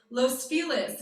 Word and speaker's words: Los Feliz: go out without masks i did it in los feliz which for my la natives understand is the accepted pronunciation and you get glared at if you actually say the correct one so i apologize to